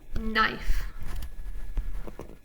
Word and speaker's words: knife: 3, 2, 1, knife.